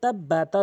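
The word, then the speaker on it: تبت: তো টেকনিকটি হচ্ছে যে, এখানে প্রথমে আমি বানান করে নিচ্ছি, তাবা জবর তাব, বাতা জবর বাত, তাব্বাত, তাব্বাত। এর পরের শব্দ ইয়া জবর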